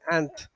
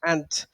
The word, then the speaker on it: aunt: Okay, recuerden que se dice aunt como si fuera hormiga. Ahí lo tenemos. Aunt se escribe A-U-N-T, but you have to pronounce it as aunt.